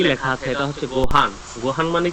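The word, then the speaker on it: ご飯: যত জায়গায় লিসেনিং শুনবেন তত জায়গায় দেখবেন যে গোহানটাকে হচ্ছে অনিষ্কার দিয়ে বলতেছে, যে গোহাং, ঠিক আছে, গোহাং।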